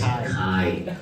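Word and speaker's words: χ: it's pronounced Greek as Kai.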